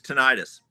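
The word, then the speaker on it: tinnitus: That's the first time I've heard that pronunciation. It's tonitis.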